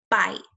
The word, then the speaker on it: bite: great if you said we can add an e to the end you are correct I the I says its name now because this vowel consonant